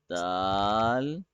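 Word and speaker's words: دال: doing great don't worry it's easy peasy it's Dal dog yeah is something wrong Anaya no oh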